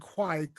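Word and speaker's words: Kveik: Well, several of them said quike, like Kwike. A couple of them said quake.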